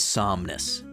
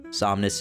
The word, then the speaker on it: Somnus: Um, our main villain of the show is Somnus. Somnness is spelled S O M N U S.